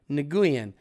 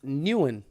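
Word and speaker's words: Nguyen: you alfredo diaz um here's how to pronounce my name nagooyan i was born pre-90s it's newen if they're born after wait what the it if nagoyan if they were born pre-90s and nuan if they were born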